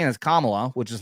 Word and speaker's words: Kamala: says oh well she say it like camel camela I prefer Cela but yeah we can say